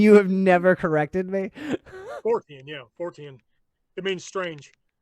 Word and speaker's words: Fortean: Fortean. Have I been saying it wrong for years now? It's all good. And you have never corrected me? Fortean, yeah, Fortean.